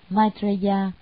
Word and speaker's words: Maitreya: Di Lặc Bồ Tát, tiếng Ấn Độ đọc là Maitreya.